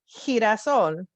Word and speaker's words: girasol: If it has an E or an I after it, it sounds like an H in English. So the word to remember is girasol, which means sunflower in English.